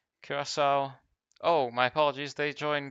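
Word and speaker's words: Curaçao: I called it Kiraaka the first time around. Kurasau.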